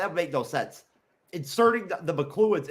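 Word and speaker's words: Makluan: The McLuhan race, remember that's how they pronounce it. It's McLuhan. Okay. Luan. McLuhan with a K. McLuhan. Almost like a Scottish last name, like a Scottish name, right?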